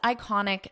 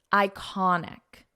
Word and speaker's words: iconic: It is one of the world's most iconic sites. Listen to the pronunciation here. Iconic, iconic, iconic. So we pronounce this as an I sound iconic and the syllable stress is in the middle iconic sites now because